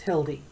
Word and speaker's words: Hildy: hi my name is Hildy it rhymes with building I may be only